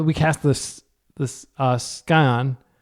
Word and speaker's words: Scion: That immediately uh no, we cast this the uh skyion. Scion. I think it's pronounced scion. The sea silent.